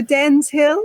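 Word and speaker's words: Dennes Hill: close on both fronts you just miss out that ND when you're saying it just Den so Den's Hill and Den's point there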